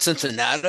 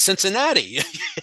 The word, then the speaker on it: Cincinnati: No, it's not Cincinnati. It's Cincinnati. That's how it's spelled.